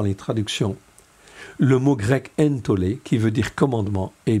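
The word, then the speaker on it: ἐντολή: Entolé comme ici, entolé, ok, qui se prononce entolé, ok.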